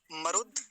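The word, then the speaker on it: मरुद्: इसका उच्चारण कैसे करेंगे मरुद मरुद द आधा है तो मरुद पर जाकर रुकेंगे अगर द का पूरा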